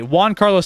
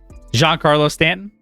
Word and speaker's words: Giancarlo Stanton: mariano rivera but wait say his name again giancarlo stanton you said juan carlo you said juan carlo i believe hey let me know